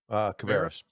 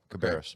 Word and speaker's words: Cabarrus: Cabarrus. Yeah, Cabarrus.